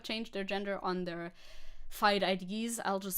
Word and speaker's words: FIDE: Pronunciation of FIDE is German. Oh, it's FIDE.